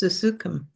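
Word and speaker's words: susukham: Therefore, Krishna says, Sukshukam. How you say this word? How you pronounce this word? I think it's Susukam.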